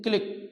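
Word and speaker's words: clique: नहीं करते हैं उस ग्रुप को बोलते हैं क्लिक सी एल आई क्य यू ई इसकी स्पेलिंग है देख लीजिए क् इसको कह सकते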